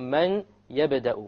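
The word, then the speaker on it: مَن يَبْدَأُ: It's immediately the mim associates with the ya, and you drop the noon sound.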